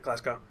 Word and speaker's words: Glasgow: Most people get the pronunciation of that wrong. I have a couple of Scottish friends. Because it is spelt Glasgow. Yeah, but it's Silent in W. the Scottish.